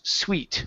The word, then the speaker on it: suite: Okay, so when it has an E at the end, you guys, it is pronounced suite. Without the E, that is suit.